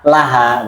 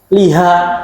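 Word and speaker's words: لها: kan Harya bukan Kenapa kok Liha bukan la Laha begitu ya jadi asal bacanya Li asal bacanya Li kecuali ketika bersambung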